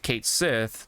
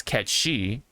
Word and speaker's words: Cait Sith: like that you know if people out there have heard Kate Sith they're more likely to stick with Kate Sith and I think I think we should just let it be you know what I mean but as long as they know the origin of that word or whatever or that term then I think it's fine I think if they just know that it's CET she then okay you know